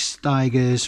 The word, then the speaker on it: Stigers: Tunstall Lumineers John Mellencamp Curtis stigers rhymes with tigers Keen I think there's